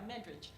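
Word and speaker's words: Medrich: Well, there was a woman there at the same time, Alice, is it Medridge? Yeah, Medridge is how we pronounce her name, who revolutionized the world of chocolate.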